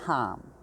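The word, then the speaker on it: Ham: to the throat chakra the mantra associated is hum it's prone it's spelled h-a-m but it's pronounced harm and it if you chant it i recommend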